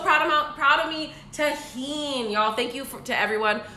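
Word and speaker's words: Tajín: Oh also this Tajin I learned how to pronounce it y'all would be so proud about proud of me Tajin y'all thank you to everyone who wrote out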